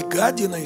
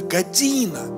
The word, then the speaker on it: година: И это година искушения. Un šīs pārbaldes stunda. Не година искушения, а година. Pārbaldes stunda. Ставьте, пожалуйста, ударение правильное.